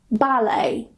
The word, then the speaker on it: ballet: Karena huruf T di akhiran, dalam bahasa Prancis itu selalu tidak dibunyikan. For example, ballet, gourmet, buffet or buffet, rapport, ricochet.